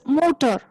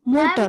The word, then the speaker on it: Mutter: It's motor. MUTTER. It's motor.